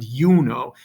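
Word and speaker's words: Iuno: is really a consonant that I and you see this in names like um Jupiter and Juno right Jupiter and yuno the I is really a j that's why you have it turn into J in English Okay so those four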